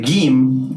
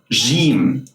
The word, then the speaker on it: جيم: Well, it's pronounced like a hard G sound, as in game. But there are a few exceptions in which you have to pronounce the gim, the hard G sound, as jim, as in the word measure.